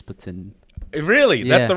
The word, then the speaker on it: poutine: right all right and it's pronounced uh it's pronounced Putin Putin out there yeah but here's poutine yeah the right way of saying it is Putin really that's the right